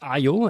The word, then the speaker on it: aiio: already mentioned the name of the tool it's IO as I learned do I pronounce it the right way are you right